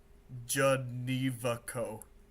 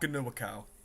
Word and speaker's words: Genevico: You pronounce it Janivaco. Janivaco. It's not Ganuakau. I think it's German, because I know we have some German DNA in our family. But yeah, it's Janivaco.